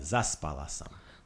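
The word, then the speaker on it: zaspala: would say so but you want to put the thing the accent on the zas bala wonderful okay another one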